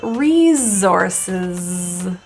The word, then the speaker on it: resources: In this word, the first S is pronounced as a Z.